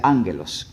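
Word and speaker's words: ἄγγελος: los ángeles viene del griego angelos así se pronuncia anglos cuando tiene doble eje en griego es anglos es una regla gramatical en griego y significa mensajero es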